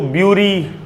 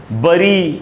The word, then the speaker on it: bury: जब किसी भी चीज़ को, किसी आदमी को दफनाते हैं मृत्यु के बाद, तो इसको ब्यूरी, बरी, ये सब नहीं पढ़ना है। इसका करेक्ट प्रोनाउंसिएशन होता है बैरी, बैरी।